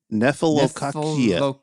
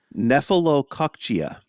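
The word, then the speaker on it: nephelococcygia: Nephelococcia. And I had to actually type that into the Google how to how to pronounce, and I typed it in.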